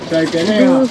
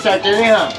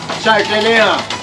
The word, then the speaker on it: Sarteneja: Sartenera. Doucement, pas vite. Sí, sartenera. Sartén, como sartén.